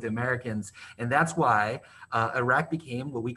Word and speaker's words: Iraq: And remember, guys, it's pronounced Iraq, and it's pronounced Afghanistan. Not Afghanistan, Iraq. Afghanistan.